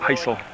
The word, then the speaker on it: Heisel: my Vermont twang accent, but it's Trey Heisel, and I've always pronounced it Heisel.